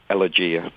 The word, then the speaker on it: Elegia: Well, we pronounce it slightly different to you Americans. It's Elegia.